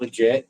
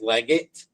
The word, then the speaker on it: Leggett: It's not legit. No, we don't. It's spelled like legit, but it's not legit. It's Leggett, and you can follow Bigfoot's tracks from there.